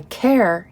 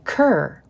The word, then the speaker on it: Ker: take at the lake, I spell it K-E-R. And for some reason, both Carrie and Janet, both in the UK, call me Kerr. To me, that is C-U-R, Kerr.